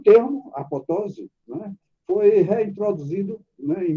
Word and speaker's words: apoptose: o camarada dizia que a pronúncia dessa palavra é apoptose. O segundo P, ele é mudo, porque veio do grego.